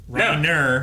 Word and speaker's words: Reiner: You can say it with the hard R if you want. Reiner, You never do.